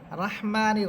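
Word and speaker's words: الرحيم: করি তখন আমরা বিসমিল্লাহির রহমানির রহিম পড়ি, তো সেখানে যদি আপনি পড়েন যে বিসমিল্লাহির রহমানির রাহিম, আপনি পড়লেন রাহমানির রাহিম, এটা ভুল উচ্চারণ। এখানে রয়ের উপরে আছে জবর, এখানে আপনি রাহমানির রাহিম বললে এটা ভুল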